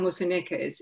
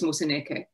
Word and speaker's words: Moseneke: upwards, but in fact, for African languages, you need to go down. The rising cadence of so many English speakers took a long time, but I got it finally, is wrong in the pronunciation of many African names, such as Moseneke.